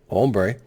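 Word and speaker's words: hombre: unable to stop the bad home bra down there or pronounced ombre then in a separate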